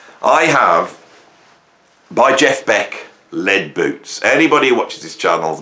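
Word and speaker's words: Led Boots: Now, what's interesting, Lead Boots, right? Lead Boots, right? The lead is spelled L-E-D, like Led Zeppelin, right?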